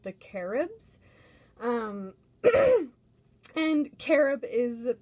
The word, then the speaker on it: Carib: indigenous tribe called the caribs um and carob is pronounced with the accent on that a like carib um so